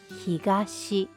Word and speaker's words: 東: Pronunciation is higashi.